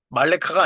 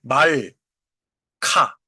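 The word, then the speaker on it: מַלְכָּה: 왜 이거는 말레카가 아니냐? 이제 첫 번째 음절이 다친 음절이잖아요. 말 카. 어. 그죠? 말카. 그래서이 경우에는 말레카가 아니고 말카가 되는 거예요.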